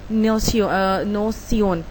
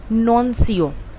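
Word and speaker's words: nuncio: पहला होगा एम्बेसडर, दूसरा है पैपल लिगेट्स, तीसरा है पैपल नोसियोन, सॉरी इसको प्रोनाउंस करेंगे हम नॉनसियो।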